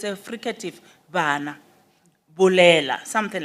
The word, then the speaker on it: bana: In Sesotho and Setswana, B can be used for bana, meaning children or kids. But in Sepedi, we don't say bana. It's a fricative. We say bana. The lips do not touch. They come closer to each other, then we pronounce it as bana.